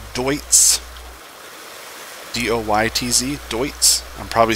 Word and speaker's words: Deutz: corrected numerous times that this is not Deutz it's just my Appalachian American and me saying dudes this is Dwight's do ytz Deutz I'm